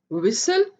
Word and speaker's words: whistle: Then whistle, w, w, e, s, l. T is silent, T की आवाज नहीं है, ये नहीं बोला जाएगा. Whistle, whistle, सीटी या सीटी बजाना, whistle, whistle.